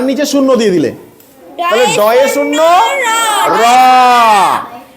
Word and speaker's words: ড়: মতো র এর মতো তাহলে এটা হবে যে ড এ শূন্য র ড এ শূন্য র এটা কি উচ্চারণ ডে শূন্য রূ যদি মনে করো এইটা